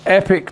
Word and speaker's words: Epoch: watch The Epic Times Epoch times depending on how you pronounce it Americans pronounce it epic but uh I pronounce it Epoch really but uh anyway